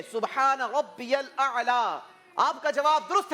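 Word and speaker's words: سبحان ربي الأعلى: Pronunciation शायद आपने गलत की है। सही प्रोनाउंसिएशन ये है सुब्हान रब्बियल आला।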